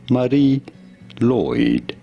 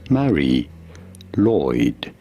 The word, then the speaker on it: Mari Lwyd: This is said as Marie Lloyd. Marie Mari Lloyd. Mari Lloyd. Lloyd. Therefore, in English, it is usually said as Mary Lloyd.